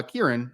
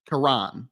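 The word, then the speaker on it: Kiran: say their name so his name I thought it was uh Kieran it's Karan Karan aangi is how you say his so I I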